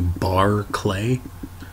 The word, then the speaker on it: Berkeley: deal briefly with Bishop Berkeley he is the person whom Berkeley California is named after the appropriate pronunciation is closer to Barr clay but that's largely unimportant